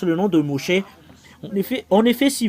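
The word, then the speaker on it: Moshe: mocher euh vous êtes étonné pourquoi vous vous prononcez toujours mocher parce que c'est le vrai nom de mocher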